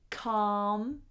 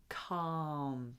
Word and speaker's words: calm: words, we've got cat, calm, cut, cap. So the only one that is the same is calm. Calm. And make sure you don't pronounce that L. We don't pronounce the L in that word.